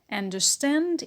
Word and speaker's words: understand: do not stress it understand understand is a verb so the stress is on stand and we have a secondary stress on the first syllable on an the second sentence is